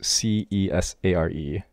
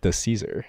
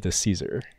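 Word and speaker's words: Di Cesare: speedrunner named PJ uh this individual's last name is spelled D I uh space c-e-s-a-r-e which I um okay in my great ignorance pronounced as Cesar which is not correct okay it's actually the Caesar so my great apologies I will correct this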